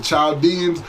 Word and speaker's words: Chaldean: When you read about, you hear about the Chaldeans, the Arabics, they say Chaldean. People in Iraq, you ask their nationality, I'm Chaldean. The H is silent in Arabic, okay?